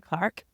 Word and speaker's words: Clarke: name is Clark I'm trying to pronounce it in a non-australian way so there is an r in there Clark and my pronouns of